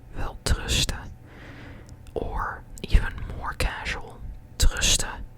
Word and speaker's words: welterusten: And we kind of drop the N, and when we pronounce it, we kind of say welterusten, welterusten.